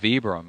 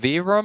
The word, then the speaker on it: Vibram: People tell us, is it Vibram or Vibram? Vibram makes more sense to me the way it's spelled. Yeah, like vibrate. Vibram would be like VEE. But they're Italian, so who knows how they say it over Oh, there.